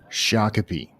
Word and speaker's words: Shakopee: Shakopee. All right. Yeah, so I've permanently remembered that town name, the correct pronunciation now.